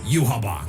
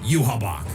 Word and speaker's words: Yhwach: Yuhabak, who planned to Yuhabak. Keep in mind, it is spelled YHWACH. Where the B at?